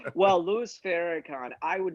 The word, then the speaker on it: Louis Farrakhan: don't know him yeah farrakhan fair louis farahan louis farrakhan is that how you pronounce it yeah are you sure i thought